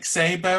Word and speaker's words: Szabo: So Nick Szabo, I guess that's how you pronounce it.